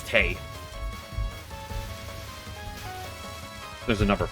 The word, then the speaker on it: Touhou: community much at all, I used to say Tui. In fact, I got some friends of mine, one friend of mine, into Touhou through Mrs. Izakaya, and they pronounced it like that. And I had to tell her it's Tay.